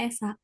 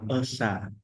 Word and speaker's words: Esa: Esa, teman-teman. Esa, bukan esa. Jadi, ya, jadi, terkadang menjadi benar bukan hanya tentang apa? Menulis, tetapi juga tentang pengucapan. Iya, jadi Ketuhanan Yang Maha Esa, bukan esa ya ?